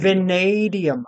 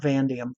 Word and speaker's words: vanadium: Ah, because of Oh, that steel. vanadium. Not vanadium. Okay, vanadium.